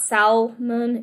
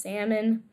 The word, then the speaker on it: salmon: It's not salmon, it's just salmon. There's a silent L there, so that might trip you up if you're like more on the basic beginner side of English.